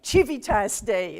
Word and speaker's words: Civitas Dei: of those areas where the pronunciation of the C in Latin is much disputed. But I like the Italian, like Civitas Dei, that's very nice.